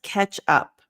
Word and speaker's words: catch up: So it's not ka, but ke. Like, again, like ke.